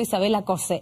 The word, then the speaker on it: Isabella Cosse: Vamos a profundizar en este tema y nos acompaña aquí en CNN Chile justamente la autora del texto, Isabela Cose. ¿Está bien pronunciado?